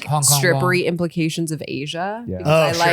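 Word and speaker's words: Aja: But you could spell Asia the Steely Dan way. Oh, okay. I like that. Same. A J A. Yeah. Oh, pronounced Asia.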